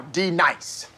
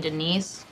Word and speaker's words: Denise: Now, D-Nice. Do you mean Denise? Say your name right, right now. Denise? Say it right. Denise. Correctly. Denise. Right. Denise. Right. D-Nice. That's better.